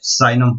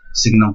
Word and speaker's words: signum: Now next, signum function, or it is also known as sinum function. In some books pronunciation given as sinum function, or sometimes you can read it as signum function.